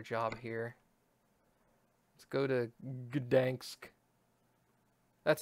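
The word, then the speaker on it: Gdańsk: Let's go to Gdansk. That's how that's pronounced, right? Gdansk.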